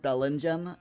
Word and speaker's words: Bellingham: It's pronounced Bellingham. Oh dear, because it's yeah, because the G and the H make a yeah.